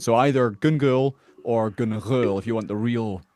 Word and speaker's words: Gun Ghaol: So if you want to get it the the authentic way, it's gul.